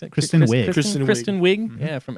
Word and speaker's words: Kristen Wiig: It was Kirsten, how do you pronounce it? Kristen Wiig.